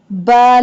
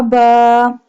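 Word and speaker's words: باء: Ba, lam, ba. Ba. Ba pronounced from the wet part of both lips.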